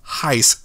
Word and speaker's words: HySE: logo the name h-y-s-e which Google says is pronounced Heist so I'm going to